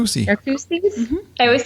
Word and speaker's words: Narcoossee: So we, and I'm going to pronounce, is it Narcoossee? Narcoossee.